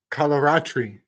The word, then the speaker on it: Kalaratri: Davey is oh my computer won't tell me kalaratri kalaratri kalaratri is the name of the seventh